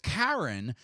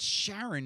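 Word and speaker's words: Charon: guys points if you spelled uh it is pronounced karen it's aaron caron would be the styx fairy man for hammer and hank so if you did pronounce karen without the h it's not sharon it's karen and if you did pronounce it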